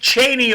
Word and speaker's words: Cheney: name first and last name say it Dick Cheney Danny name George versus Vice President say his